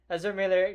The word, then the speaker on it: Ezra Miller: That being said, I really loved what's his name, Ezra Miller, did I say it right? Yeah, Ezra Miller.